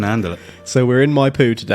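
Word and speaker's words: Maipú: back to Mendoza following a business meeting in my poo that's spelled m a i p u for our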